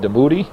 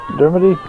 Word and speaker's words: Dermody: you say that name de booty no Dermody Dermody Dermody like dermatologists that's what I gotta